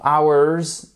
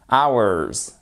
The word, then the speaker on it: hours: Hours, ici, on n'entend pas le H. Celui-ci ne se prononce pas. OK? Hours. Ça se prononce exactement comme notre.